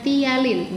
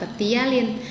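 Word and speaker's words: ptialin: Ingat ya, cara bacanya tialin, bukan petialin.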